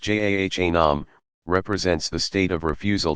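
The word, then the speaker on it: جهنم: Jahannam, pronounced Jahanam, represents the state of refusal to acknowledge God's sovereignty.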